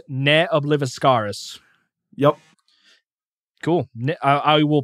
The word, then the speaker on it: Ne Obliviscaris: extreme progressive metal band and apparently it is pronounced NE obliviscaris yep cool I I will probably end up